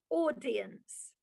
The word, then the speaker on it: audience: Audience. Think of the name Paul. P A U L or Pauline. So Au is or.